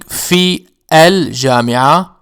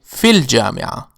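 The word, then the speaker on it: في الجامعة: For instance, instead of saying fi al-jami'ah, we say fil jami'ah, fil jami'ah.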